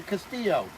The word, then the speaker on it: castillo: j castillo it's a castillo i learned that you're supposed to keep the two l's when they're together silence more like a y that's what i just learned anyways we have a castillo it's a nice red